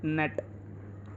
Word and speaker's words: gnat: नेट की spelling हम लोग लिखते हैं GNAT, लेकिन बहुत सारे बच्चे इसको जनाट बोलते हैं या फिर अलग अलग वर्ड और भाषा मतलब और प्रोनाउंस करते हैं और कुछ बोलते हैं, लेकिन वो गलत है।